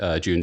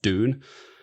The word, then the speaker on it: Dune: It's pronounced June, not Dune.